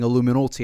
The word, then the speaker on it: iilluminaughtii: And I am aware that I do keep saying iilluminaughtii, and I know a lot of people are probably going to get mad at me. I don't care. It's the correct pronunciation. It's in the spelling.